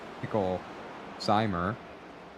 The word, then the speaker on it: Picklesimer: Picklesimer. Okay, we've been saying it right, mostly.